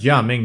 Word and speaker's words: Gaming: Literally spelled gaming. I mean, you pronounce it as Jia Ming, sure, but you do what you want, right?